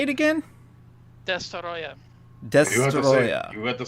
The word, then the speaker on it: Destoroyah: just you know the official technical name is D Roya but Dyer is fine that's the original the